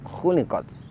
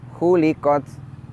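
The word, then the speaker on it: خلقت: Perhatikan pada lafaz khuliqot. Lafaz khuliqot artinya adalah diciptakan. Tetapi apabila kita membacanya dengan bunyi huruf ha seperti ini misalkan hulikot maka artinya akan berubah. Bukan lagi berarti diciptakan, tetapi artinya adalah dicukur.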